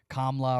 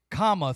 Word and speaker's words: Kamala: you need help, and this is for the people who call her Kamala and Kamla or whatever they say, but it's comma. Think of when you're using grammar and you put a comma in a sentence.